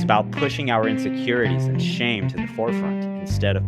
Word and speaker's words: Showe: podcast we have and for a long time I was calling you show so now I know you're real uh the pronunciation of your last name is Sha yeah yeah I was